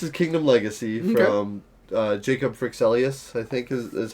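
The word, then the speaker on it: Fryxelius: This is Kingdom Legacy from Jacob Frixelius, I think is how you pronounce it. The creator of Terraforming Mars. Yeah. Firaxis games? Yeah. Not Firaxis. That's the video game. It's Frixelius. Frixelius, yeah.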